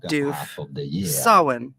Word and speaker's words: Samhain: Samhain. How do you go about pronouncing it?